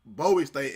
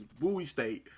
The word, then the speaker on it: Bowie State: Now that we've been educated on how to pronounce. Right. Because you know me. I've been saying Bowie State and it's Bowie State.